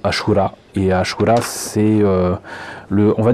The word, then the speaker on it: Ashura: Donc ils appellent ça le Asura Operation System. Je pense que ça se prononce plutôt Ashura.